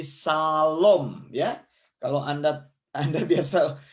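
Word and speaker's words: שלום: di akhir disebut Soviet jadi disini dibaca SH jadi Shalom ya kalau Anda Anda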